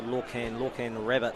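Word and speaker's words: Lorcan Rabbitt: So a big thanks just for that correction. Correct pronunciation there for Lorcan Rabbit.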